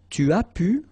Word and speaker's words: tu as pu: Tu as pu. Remember, you don't pronounce the S here.